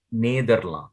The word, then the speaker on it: Nederland: Neder. Nederland, because E is A, na?